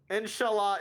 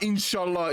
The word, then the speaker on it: inshallah: Inshallah, it will be clean. You said it wrong, you idiot. It's not inshallah, it's inshallah. It's pronounced differently in other cultures.